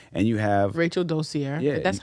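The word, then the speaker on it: Rachel Dolezal: Rachel Dozier.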